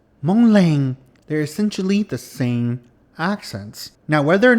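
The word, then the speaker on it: xav: It is spelled X-A-V, and this is pronounced Sa.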